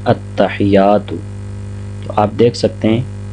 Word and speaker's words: التحیات: غلطی کی جاتی ہے وہ یا کو مشدد نہیں پڑھا جاتا، یعنی التحیات۔ تو آپ دیکھ سکتے